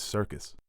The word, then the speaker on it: Serkis: I just realized his last name is Serkis.